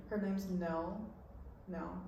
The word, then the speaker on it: Nell: Nell. It rhymes with Belle, but everyone always says it wrong.